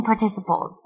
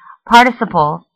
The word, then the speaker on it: participle: Some pronounce the word participle, while others say participle. Both are correct and both can be used.